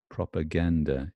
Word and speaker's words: propaganda: results in no problem the UH in propaganda propaganda is unstressed right so these stresses prop is the first as sorry as this is the secondary strength propaganda gand is the main stress and these are sands here they unstressed okay they're not stressed I'm only accepting one